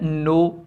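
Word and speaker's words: know: अंदाजा और राय देना फिर है नो नो यानी जानना जानना नो के पहले दोनों जो हैं लेटर वो क्या है कंसोनेंट है और यहां क्या बताया है कि कंसोनेंट का पहला नहीं पढ़ा जाएगा अगर दो साथ में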